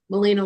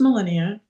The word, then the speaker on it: Melania: Melina, let's go ahead and let you go first, honey. Okay. Hi. Um, my name is Melania. That's right. I I pronounced it wrong.